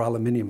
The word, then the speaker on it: aluminium: actually a metal frame it's aluminum as the americans say or aluminium as we say in the uk it it really only